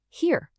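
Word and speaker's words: hier: Now if you flip it, I-E, that always makes a long E sound. The word for here is here.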